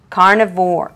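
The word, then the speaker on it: Carna4: If they're telling the truth, and I'm impressed by that, this is Carne for which is spelled C A R N A and the number four. Carnivore.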